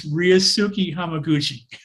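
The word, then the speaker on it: Ryusuke: name let me help you out it's ryusuki thank you so much i actually tried to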